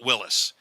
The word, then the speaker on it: Willys: I always called it Willys until someone corrected me and said call it Willis. So I call it Willis, but it's kind of almost interchangeable, but I will use Willis for the interview.